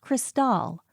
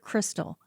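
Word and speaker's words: Kristal: At Reed's opposite side was his Viper executive assistant, Cristal with a K, and pronounced Cristal, not like the word crystal, and heaven help you if you get it wrong.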